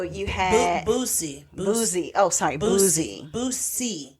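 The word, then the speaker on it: Boosie: You said Bootsy. I know, I said it wrong. Yeah, Boozy. I don't know these people. Now C. Boozy. Yeah, Boozy. But you're making it sound like it's C-E-E. It's S-I-E.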